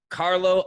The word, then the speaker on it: Carlo: content i'm always like you know carlo no s fitness marketer carlo no s ad fitness marketer but yeah that's a